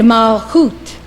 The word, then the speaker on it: Malchut: And Malchut, kingdom.